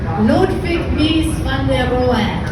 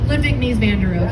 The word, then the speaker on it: Ludwig Mies van der Rohe: Ludwig Mies van der Rohe. Jawohl. Or as we say in English, Ludwig Mies van der Rohe.